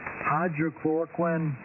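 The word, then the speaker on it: hydroxychloroquine: me if I'm not pronouncing this correctly but hydroch chloroquin uh again I might not be be pronouncing that correctly but hydroch chloroquin uh anyway you may have heard it before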